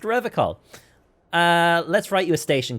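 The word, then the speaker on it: Revachol: It's pronounced Revicol.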